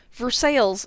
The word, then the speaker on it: Versailles: they figured it out why did the incorrect pronunciation continue for sales sounds like someone had